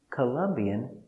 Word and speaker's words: Colombian: Colombian description. He is Colombian.